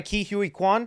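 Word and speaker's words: Ke Huy Quan: the characters and OB Ora Boris played by Ki Hui Kuan I just looked up how to pronounce the name and that's how he said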